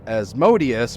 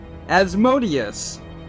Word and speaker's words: Asmodeus: were doing in 2007 in the pronunciation guide as modius is Azz m o with the emphasis on M O as Mo e asmod